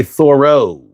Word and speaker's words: thorough: But you have to say thorro.